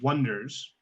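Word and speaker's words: Oneders: band should be the Wonders. However, they should spell it like one, as in the number one, O-N-E, Durs.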